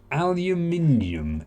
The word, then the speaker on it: aluminium: whole time in B it can go goes aluminium element number 13 unlucky for some for me